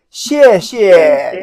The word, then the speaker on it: 谢谢: 谢谢。 Now if you want to say it very formal, 谢谢. You want to emphasize the last one.